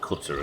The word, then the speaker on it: Qatar: tried pronouncing it cutter and my friend thought I was crazy. It's like cutter or something, isn't it? I I think it's not the pronunciation is not as easy for Westerners as simply saying cutter. I think it's some syllables we don't use a great deal.